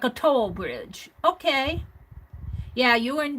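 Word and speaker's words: Towl: that to to to to like toy like toll t o l l toll toll to well good morning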